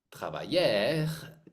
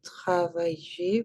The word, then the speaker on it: travailler: dernière fois tous les verbes er c'est pas travaillur c'est pas mangur a comment dit-on la la prononciation ici comment est-ce qu'on dit ça je h ça c'est et manger et manger travailler plantter plter oui er c'est pas plantaire trava